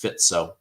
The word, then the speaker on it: Fico: Fico is pronounced Fitzo.